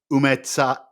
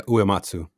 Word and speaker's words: Uematsu: But Nobuo Umetsa, Umatsu. Umetsu? I have no idea. Man of Rohan, do you know how to pronounce that? Yeah, Uematsu.